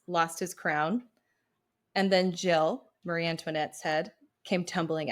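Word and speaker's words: gill: um Mother Goose version Jill was spelled g i l l which is pronounced Jill but G was a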